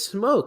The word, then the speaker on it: Smoak: Because it's just like I want to pronounce it phonetically how I see it, but everyone's saying it's Smoke, and I'm like, I don't see that.